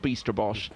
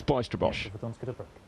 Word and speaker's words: Bijsterbosch: But he definitely said to me it is not Bijsterbosch or Bijsterbosch, it's Bijsterbosch.